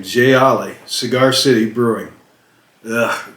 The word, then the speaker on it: Jai Alai: cigar city gylai ipa i didn't even know how to pronounce it jay ali that's how i was saying j ollie cigar city brewing ugh